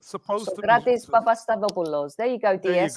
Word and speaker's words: Sokratis: I was born in London to Greek parents. So I'm going to pronounce his name the way it's supposed to be. Sokratis Papastadopoulos.